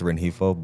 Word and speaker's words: Rengifo: Really, it's supposed to be pronounced Rengifo, but I've just always been called Rengifo.